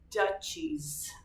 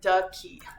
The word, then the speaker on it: duchies: There are 12 kingdoms and 32 duchies. Fine. Let me look it up. Duchies are ducky. It's not going to be duck. Dies. Uh pronunciation. It's duchies.